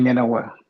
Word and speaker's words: Nyenawa: How you pronounce your last name? Isaac Nyenawa. Isaac Nyenawa.